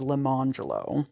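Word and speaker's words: Lemonjello: Or consider the twin boys Orange Jello and Lemon Jello, also black, whose parents further dignified their choice by instituting the pronunciations Arangelo and Lemangelo.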